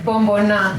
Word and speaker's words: Bomboná: How do you pronounce it? Yeah, Bomboná. Bomboná. Okay, Bomboná.